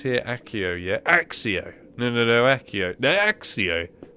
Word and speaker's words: Accio: No, Axio. And then the guy just went, "Alright, we're going to call it Axio." It's like, no, but it's Accio. It's spelt with a C.